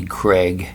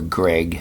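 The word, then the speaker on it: Bobby Gregg: Mack on bass, and Bobby Craig, or Greg I guess is how you say it, on drums.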